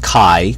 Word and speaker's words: chi: square I know it says G but it's pronounced Chi it's a Greek letter Chi from which we